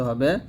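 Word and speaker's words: ح: গুরুত্বপূর্ণ একটা হরফ হা দেখুন এই হা টা আমরা যে ভুলটা করি সেটা হচ্ছে হা এর মত উচ্চারণ করি তো সতর্ক থাকতে হবে এই হা টা যেন হা এর মত না হয় যেটা হচ্ছে হা চিকন করে বলতে হবে হা জবর হা দুই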